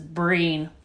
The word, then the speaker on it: Breen: this is crawl and this is breehn breehn rhymes with green that's all we'll remember